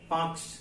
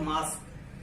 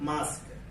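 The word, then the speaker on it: mask: पहले कैसे पढ़ लिया, मार्क्स बीच में कैसे लेके आ गया। लेकिन हमारी क्या है, साधारण बोलचाल की भाषा में हम बहुत सारे वर्ड का गलत जो है प्रोनाउंसिएशन करते हैं, गलत उच्चारण करते हैं उनका। तो आपको क्या करना है, अच्छे से इसको बोलते हैं मास्क। क्या बोलते हैं?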